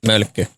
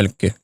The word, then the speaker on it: Mölkky: Is it Molky? Mölkky. Oh, is that how you pronounce it? That's it. Molky? Yeah. Mölkky.